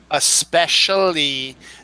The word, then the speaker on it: especially: especially wrong it is the proper pronunciation is especially not X especially it's got to be that that es just somehow gets people to just make it ex it's not it's